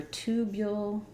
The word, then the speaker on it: tubule: what it sounds like so for tubule um yes exactly the same and the tubule is a slender elongated anatomical Channel okay good so as I mentioned you can use that ooh vowel that also said that